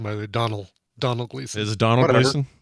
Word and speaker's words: Domhnall: And can I correct you on the pronunciation, by the way? Donald Gleeson.